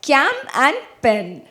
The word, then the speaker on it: CamPen: has all of this, that is pronounced together as Cam and Pen.